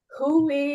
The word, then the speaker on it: Huawei: Huawei, it's HUAWEI.